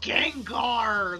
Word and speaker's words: Gengar: Gengar. I'm a little It's I I haven't really engaged in Pokemon ever since it was announced they were going woke. So, everyone knows it's pronounced Gengar, though.